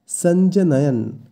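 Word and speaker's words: সঞ্জনয়ন্: এখানেও শুরুতে দন্তস্ব আছে তাই শয়ের উচ্চারণটা হবে স, স কিন্তু নয়, সঞ্জনয়ন এই শব্দের অর্থ বর্ধিত করে।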